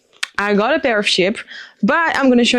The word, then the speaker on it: Chypre: I don't know how do you say in English, but in French, Chypre.